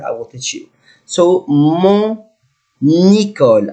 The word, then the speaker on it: mon école: So, mon école, I must pronounce letter N here because I have vowel.